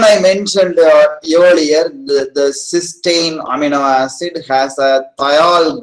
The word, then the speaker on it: cysteine: amino acid with the free thiol group is pronounced cysteine and this disulfide form is pronounced as strain